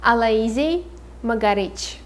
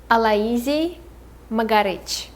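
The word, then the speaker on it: Алоизий Могарыч: Next character we have is the acquaintance of the master, and his name is hard to pronounce. It's Aloisi Magarich. Aloisi Magarich. So Aloisi is his first name and Magarich is his last name.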